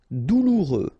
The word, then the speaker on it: douloureux: Douloureux, remember, final X not pronounced, so you get this OU together, ou, douloureux, douloureux.